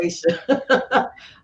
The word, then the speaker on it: Aisha: And I'm finally saying her name right. Only because it's so close to my friend, and her name spelled the same way, and it's Asha. So for me to say Aisha, I'm super excited.